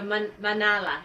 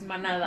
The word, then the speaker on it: manada: Okay, so manala is Manada. manada. manala. With Manada.